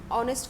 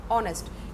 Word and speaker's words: honest: For example कोई word है, जैसे अगर हम ऑनेस्ट की बात करें तो यहाँ पर एस साइलेंट है, ठीक है, लेकिन साउंड क्या आ रहा है? ऑनेस्ट, यानी कि वोवल साउंड आ रहा है, तो